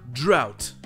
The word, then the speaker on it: drought: Et bim, quatrième prononciation, drought, avec le son ow, avec toujours le GH muet et enfin le T.